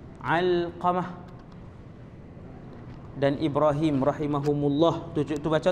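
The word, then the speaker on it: Alqamah: Cara baca dia Al-Qamah huruf ain. Al-Qamah.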